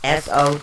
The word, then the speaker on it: Sowilo: So it's actually spelled Sowulo, but it's pronounced SO-WEE-LO.